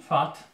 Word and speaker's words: vat: Narody fackie to Szwedzi, fat, Holendrzy też fat, tylko przez V. Bo po holendersku V, litera V czyta się F.